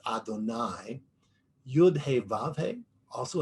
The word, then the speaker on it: Adonai: The sages pointed out that Yud He Vav He, the name that we give, that we have understood is God's name, and what we pronounce as Adonai, Yud He Vav He also has a gematria of 26.